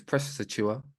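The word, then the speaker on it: Achiuwa: I questioned the pronunciation because it's press a cheer and I knew that yeah but I'm dyslexic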